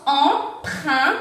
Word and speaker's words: emprunt: Entonces tenemos emprunt con sonido un, T.